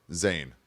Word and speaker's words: Zane: k y ouch what about my first name zann yeah but how do you spell that z n e okay well some people